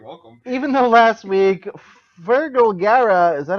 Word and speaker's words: Fergal Gara: of cool you're welcome even though last week fergal gara is that how you pronounce that yep that's all right promised excited